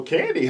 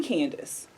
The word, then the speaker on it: Candie: Has your name ever been mispronounced in the history of your life? All the time. What have you gotten? Mostly Candace. Candace. Okay. Mostly Candace.